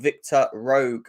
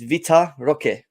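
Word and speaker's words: Vitor Roque: in the name of Victor Rogue as well or okay I can't pronounce these names properly but you know Victor Victor it's not Victor it's Vita Roque Victoria we're talking about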